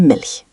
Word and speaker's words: Milch: Ich möchte Milch. I would like milk. Focus on the soft ch in ich and Milch.